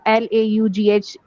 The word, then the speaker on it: laugh: So I was writing down something about that why uh l a u gh turns to laugh or laugh why it is